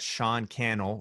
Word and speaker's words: Sean Cannell: more about you yes Sean kennel comm is my website that Sean kennel rhymes with YouTube channel and yeah and that's